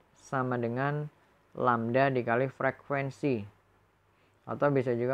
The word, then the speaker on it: lambda: Panjang satu gelombang atau panjang gelombang ini disimbolkan dengan simbol atau lambang seperti huruf Y tapi dia terbalik atau dibacanya lambda.